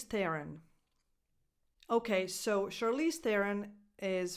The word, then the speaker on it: Theron: Voiceless th, as in the word think. The, that's the defined, the stressed syllable. Theron. Run. The last O is just a schwa, because the stress, again, goes on the.